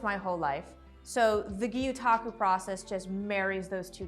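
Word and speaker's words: gyotaku: I can't wait to show her my world of guotaku. She seems really excited about it. So, how do I pronounce this? So, it's pronounced guotaku. Okay. Um, it's a Japanese word.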